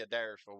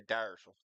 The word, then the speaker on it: Adairsville: There's they Well, in Bartow County, we don't say Adairsville. We say Dyersville. The front A is silent.